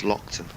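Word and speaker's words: Loaghtan: a G hton but apparently the the proper pronunciation is Lockton very rare breed of sheep the ram here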